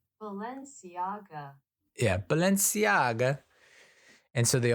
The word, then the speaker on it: Balenciaga: Baga how do I pronounce Balenciaga how to pronounce Balenciaga Balenciaga Balenciaga yeah Balenciaga and so they all become very